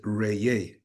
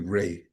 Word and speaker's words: Ra: The whole actual pronunciation of or the sound is re. That's the actual tone. Re but it's been shortened over time to reay.